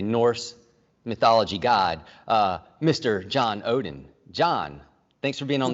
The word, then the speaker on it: Odden: can trace back directly, of course, but it's Odin, the way it's pronounced, and looking at the Nordic history and